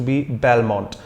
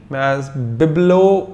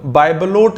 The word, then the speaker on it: bibelot: BIBELOT, बिब्लो, हाँ जी शायद इसका प्रोनाउंसिएशन बिब्लो है, बिब्लो, T साइलेंट है, इंग्लिश वर्ड नहीं है, बिब्लो प्रोनाउंसिएशन है, माफ कीजिएगा अगर मैं थोड़ा बहुत गलत हूं, बाइबलोट जैसा कुछ भी नहीं है, बिब्लो प्रोनाउंसिएशन है जितना मुझे याद है इसका।